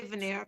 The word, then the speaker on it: Vanier: I mean, I say veneer. People tell me I'm wrong. I'm butchering the French.